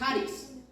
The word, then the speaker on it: charis: en lo que es el griego es haris se escribe charis ese significa proporciona alegría